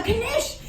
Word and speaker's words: knish: We're gonna pronounce every single letter with every single word we speak because we weren't allowed to and now we are.